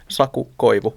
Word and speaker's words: Saku Koivu: Saku Koivu, What about Jussi Jokinen?